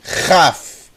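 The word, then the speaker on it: כ: de k vai ter som de raf raf chamamos raf PR você poder associar ao som de Ret como rato como carro carro o mesmo som da letra Ret Ret ra ri R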